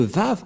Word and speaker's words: Vav: C'est-à-dire que c'est V la bonne prononciation.